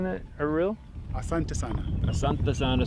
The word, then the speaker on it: Asante sana: Asante sana, squash Yeah. banana. All right. No, Asante sana just means thank you. So Squash thank bananas. you, squash bananas. Rhymes with it.